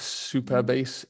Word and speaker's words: Supabase: we wanted to have super bass er uh but the domain wasn't available so we have to go PA but but we we've always just pronounced it super as in you know okay so yeah